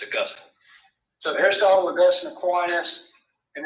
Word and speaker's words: Augustine: But it's not how you say it, right? It's Augustine.